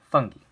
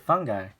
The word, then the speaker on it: fungi: the funky and yeah it is pronounced funky if you pronounce it fungi I'm not gonna judge you but but you're kind of wrong so funny or plant-like